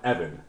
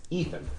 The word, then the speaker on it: Ethan: think you're Mis pronuncia it's not Evan it's Ethan eth Ethan Cohen um